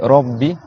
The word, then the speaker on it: Rabbi: Donc, dites Rabbi. Rabbi, très bien, voilà. Rabbi. Et on fait bien deux B.